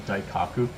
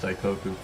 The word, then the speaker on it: Daikoku: In January 2019 he would pronounce it as daiku. But I met him in a car meeting and I told him, "Yo, it's actually pronounced Dikoku."